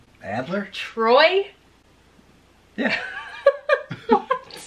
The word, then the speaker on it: Adler: I think technically it's pronounced Adler because it's German.